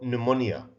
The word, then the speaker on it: pneumonia: Can, snow, pneumonia. Focus on the last one. Pneumonia, we don't pronounce the P. P here is, we said this before, it's a silent letter.